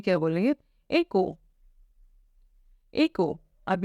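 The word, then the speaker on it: écrou: तो नट को हम फ्रेंच में क्या बोलेंगे एक को एक अब ये एक्सेंट होता है यह हम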